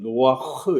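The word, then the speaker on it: נֹחַ: 노아 아저씨의 정확한 발음은 노아흐 이렇게 발음해야 돼요.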